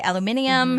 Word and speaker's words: aluminium: And because they say, in Britain, they say aluminium.